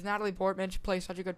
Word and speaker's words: Natalie Portman: too her characters play Natalie pman play such a good pamy amadala um I didn't even say it right it's Natalie Portman she plays such a